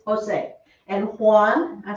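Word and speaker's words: José: the last one jays the letter j quota always sounds like an h so you do have the h sound in spanish it's just written as a letter j because okay that is jose that is jose it's not josie right it's jose and juan i said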